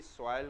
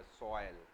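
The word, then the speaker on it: soil: बनी हुई है इसी सॉयल के ऊपर बना हुआ। ओ आई को प्रोनाउंस करते हैं ओ ए की तरह, सॉयल।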